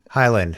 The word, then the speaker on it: Hiland: for our listeners this Highland yeah it spelled H ila and D so it's Johnny Highland dotnet did I say Hiland yeah you did Johnny Highland dotnet Johnny I got